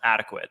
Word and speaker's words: adequate: Yeah, and it's about time I tell you this, Danny, but the word is pronounced adequate. A lot of people commented down. It's adequate. That is how you're supposed to pronounce that word.